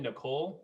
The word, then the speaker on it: Nicolle: joined by hello ethan nicole pronounced like the girl's name um and uh ethan